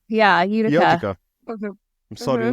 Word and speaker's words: Utica: Udica. Yeah, Utica.